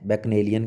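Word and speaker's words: bacchanalian: देखो इसके आपको प्रोनाउंसिएशन सही रखनी है बैकनेलियन की, ठीक है। BAC, सी को यहाँ पे के रूप में बोला जाए, बैकनेलियन सीधा फिर न के एन के बाद बोलना है बैकनेलियन, ड्रंकन या शराबी होता है।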